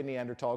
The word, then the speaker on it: Neanderthal: Many anthropologists like to say Neanderthal because we like to break stereotypes. And the place is said Neanderthal. And in fact, when it came into English, it's spelled Neanderthalensis. They give it a species name, Homo Neanderthalensis, but with a TH. In Latin, you don't say the H.